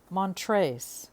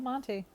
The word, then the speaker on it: Monte Carlo: Montrese, Carlo. Not Monty. No, ma'am. They're Montrese. Montre. You can't pronounce the S.